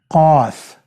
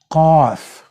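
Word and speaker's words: قاف: Even not Q, but it's a powerful way it comes from the very back end of your throat, okay?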